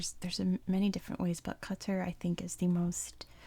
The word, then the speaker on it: Qatar: I saw a video where a guy explained that every sound in the name does not exist in English.